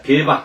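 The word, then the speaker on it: 競馬: 그래서 이걸 뭐라 그랬죠? 예, 계바라고. 예, 개바라고 읽었습니다. 어, 개바라고 이제 오프라이 강의할 때는 꼭 이거 같이 읽습니다. 개바 읽어 봅시다.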